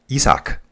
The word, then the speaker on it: Isaac: Note, in Spanish, Mexican, yeah, Isaac is pronounced Isaac.